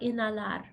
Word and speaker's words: inhalar: Exhalar, inhalar. And I love how Diane pronounced those. She didn't pronounce the H. Because remember that the H is silent.